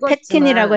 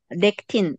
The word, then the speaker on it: 렉틴: 그래서 저는 그 책의 아까 제가 내용을 네, 팩틴이라고 읽었지만 했는데 팩틴이 아니라 렉틴 잘못 얘기를 했어요. 렉틴 맞아요. 렉틴. 렉틴이에요.